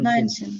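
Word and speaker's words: neunzehn: আপনি মনে করেন যে এই যে 19টা বলেন তো দেখি, 19টা নয়েনসেন। কিভাবে উচ্চারণ করবেন? নয়েনসেন। তাহলে কিভাবে আপনি বুঝছেন এটা নয়েনসেন হইছে? আগে হচ্ছে কি যে 9টা আপনি নয়েন, তারপরে হচ্ছে 10-এর সেন। সেন, এই তো গুড।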